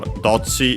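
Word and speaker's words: どっち: seen, yeah, no, okay, for dochi is actually accent on the first syllable.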